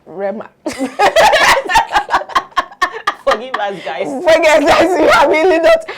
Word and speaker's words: Rema: Is it Rema or Rema? Rema.